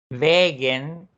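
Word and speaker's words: vägen: No es lo mismo decir Wegen, que es el camino, a decir Weggen. Weggen. Cortito, bien cortito. Weggen.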